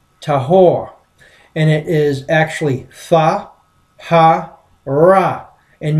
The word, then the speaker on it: tahor: word clean came from h2889 which is typically pronounced tahor and it is actually and means snake spirit